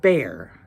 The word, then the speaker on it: bear: it's the ear but when you put a b in front of it it's pronounced with a long a making a bear I